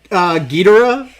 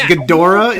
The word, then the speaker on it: Ghidorah: used to say i i used to say king ghidorah and it's gadora yeah but that's the thing